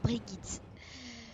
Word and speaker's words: Brigitte: Elle est suédoise, donc ça se prononce Brigitte.